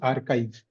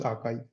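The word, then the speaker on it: arXiv: Uh it's it it is it is pronounced as archive. Archive. It is written as a R X I V but pronounced as archive.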